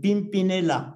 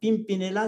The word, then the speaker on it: Pimpinella: Plus tard, hein, Pimpinella. Pimpinella, c'est le nom d'une fleur dont la partie mâle protège la partie femelle de la fleur. Hein, c'est très joli. Ça s'écrit comme je le prononce, P-I-M-P-I-N-E-L-A.